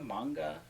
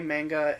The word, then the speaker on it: manga: Manga? Uh a lot of people in America say manga in Japanese. They pronounce it manga.